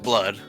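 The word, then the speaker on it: blud: it's shortened to blood I don't know if it's pronounced blue or blood I think it's pronounced blood blood I'm getting sick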